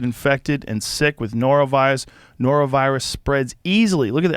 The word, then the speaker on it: norovirus: Norovirus.